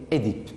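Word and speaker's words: Œdipe: Mais d'abord, il y a la première prononciation, on prononce Édipe. On dit Édipe, on accepte Oedipe, mais on ne dit pas Oedipe.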